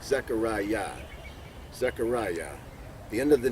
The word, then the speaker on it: Zechariah: i a h i a h but it's pronounced zechariah and more properly y a h it's a